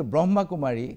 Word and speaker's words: ব্ৰহ্মাকুমাৰী: খোঁজু যে ব্রহ্মাকুমারীর ব্রহ্মকান্ড যেটা আমি ভুল কই উচ্চারণ করেছিল বিগত দুটা খন্ড আমি কব লাগিছিল ব্রহ্মাকুমারী কিন্তু কলু আমি ব্রহ্মকুমারী একে সকলে কথা আপত্তি করিছে স্বাভাবিক আরো এইবার আমি ক্ষুধরণী করি লইছু এইবার আরো আগন্তুক দিন বিলাকত যদি করিব হয় তেন আমি ব্রহ্মাকুমারী বলে উচ্চারণ করিব দ্বিতীয় কথা হল যে